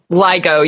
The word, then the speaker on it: LIGO: arms of the the is it ligo is that how you pronounce it yeah yeah I wasn't sure if it was Lio or ligo I know it's Li ligo yeah it stands for laser